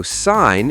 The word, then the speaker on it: sign: The G is silent. So sign is just sign, and design is design, and foreign is for-in?